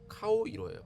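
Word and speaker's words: 顔色: 그런데 너 낯빛이 어두워, 무슨 일이야, 얼굴이 왜 그래, 이런 경우에 쓰는 낯빛의 일본말은 카오이로예요.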